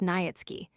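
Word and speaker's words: Niëtzky: The family tradition was that a certain Polish nobleman Nikki pronounced Nyatsky had obtained the special favor of Augustus the Strong King of Poland and had received the rank of Earl from him.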